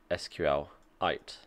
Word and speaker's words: SQLite: rather than SQL light sqlite small difference sqlite like meteorite that's it for today